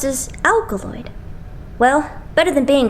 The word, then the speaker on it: ALKALOID: and didn't get what it meant so it's pronounced as alkaloid well better than being called The Underachievers alkaloid